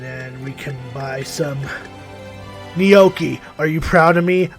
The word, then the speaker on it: gnocchi: I actually pronounced it correctly. At least I hope. Still gonna pronounce it noche because I'm just a stubborn fuck. Will this be with I love gnocchi. That's another way of mispronouncing it.